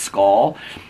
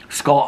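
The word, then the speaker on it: Schull: looks like sha C It's s c h u l l but it's pronounced skull skull Ireland and so anyway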